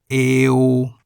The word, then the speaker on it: เอว: The final consonant is wo wen, which sounds like a W as an initial consonant, but sounds like an O as a final consonant. Eo.